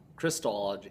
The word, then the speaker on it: Christology: one of those where the pronunciation changes so it's CHR crystology crystology so I don't know